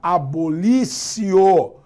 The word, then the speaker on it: abolitio: gerou uma abolicion crimes se escreve abolitio mas se pronuncia o bulício porque palavras em latim